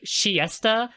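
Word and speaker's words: Chiester: I was saying it in Japanese it's pronounced like shiesta which like in early translations they were actually their name was translated as the Siesta sisters like you know like taking a siesta um but no they're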